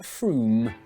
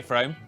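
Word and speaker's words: Frome: good it's a good opportunity slitheringly obvious is pronounced froome but if you did say from don't worry you're in good company froome is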